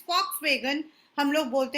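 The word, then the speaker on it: Volkswagen: आज अगर आपके घर के बाहर या आप कभी भी बोलते हो फॉक्सवैगन, हम लोग उसको VOLK वॉक्सवैगन बोलते हैं, लेकिन वो है फॉक्सवैगन. The pronunciation is फॉक्सवैगन.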